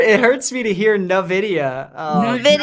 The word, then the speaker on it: Nvidia: hurts me to hear Nvidia um like the letter N in and then video that's it that's all you need yeah in the video